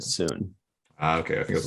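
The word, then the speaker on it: Sun: it was spelled S-U-N, but they pronounced it soon.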